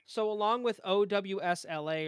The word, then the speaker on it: OWSLA: So along with OWSLA or Ausla, however you want to pronounce it, he has Ausla. I think it's pronounced Ausla Records, but he has that's his.